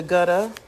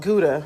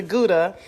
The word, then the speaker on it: gouda: harvardy hey caroline and then i used a gutta but i'm sure that's not how you pronounce it i think it's called gouda sorry i used a gouda and then i used a pecorino of course